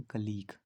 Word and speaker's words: colleague: कलीग की spelling होती है COLLEAGUE। इसको हम पढ़ते हैं कलीग।